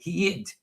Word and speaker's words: heid: So, I would spell that h ei. Some people just spell it h e d because I think I put an i in it. Heid.